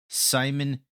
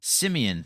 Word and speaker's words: Simeon: Simon, is that how you say it? Is it Simon Woodard? Cornerback. Simeon. There we go.